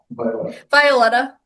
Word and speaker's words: Violetta: How do I pronounce my name? Yeah. Violetta.